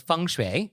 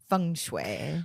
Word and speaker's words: feng shui: So if you want to follow the principles of feng shui, then you could certainly do it this way. Yeah, and if you want to pronounce it correctly, listen to the way Nick says it. Feng shui.